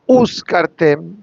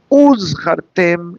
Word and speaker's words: uzchartem: Uritem oto, uzchartem, uz, like Uzi, no uzkartem. What's the difference? Uzkartem means you will hire. Uzchartem, you will remember.